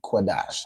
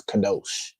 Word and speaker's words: Qadash: I believe that w is just some something the um yeah from the same as quadash. It's something the uh Jewish man added to make that o sound. He pronounces kadosh because he's a effing Right?